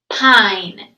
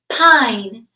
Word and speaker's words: pine: silent e ready i pine amazing work did you notice how there were just three sounds the e didn't say anything and if we blend it all together pine great work first graders